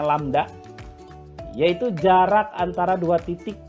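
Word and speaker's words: lambda: panjang gelombang simbolnya seperti huruf y Terbalik ini dibacanya lamda yaitu jarak antara dua titik dalam satu periode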